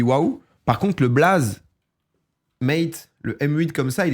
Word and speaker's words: M8: plus facile à prononcer pourquoi mate parce que 8 en anglais c'est eight et donc m plus AX ça fait mate et on s'y retrouve